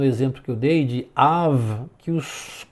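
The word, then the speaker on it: אב: Então Av é a pronúncia ali. E tem o Kamatz, né, como eu já disse, Av, que significa pai, escreve com Kamatz e também escreve com patá.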